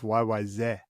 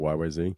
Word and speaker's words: YYZ: Because it's really, and it has nothing to do with a language, but if you do it like the air traffic control, it's YYZ.